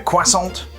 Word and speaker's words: croissant: functional there's a blue platter complete with a croissant and that is how it's pronounced and some wizarding beverages i definitely recognize